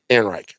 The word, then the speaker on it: Ehrenreich: Ehrenreich.